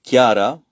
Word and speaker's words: Chiara: Donc elle aé donc son nom et Kiara.